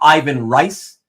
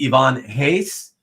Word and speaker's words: Ivan Reis: of you will say Ivan Rice or Reis. It is indeed Ivan Reis, Portuguese pronunciation.